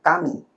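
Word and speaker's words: 神: dalam bahasa Jepang ditulisnya dibacanya adalah kami.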